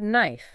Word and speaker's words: knife: yeah take the word knife for example why is that K even there if we don't pronounce it it does seem like